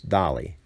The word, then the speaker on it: Dale: It looks like Dale to us, but in Norway, it's Dali.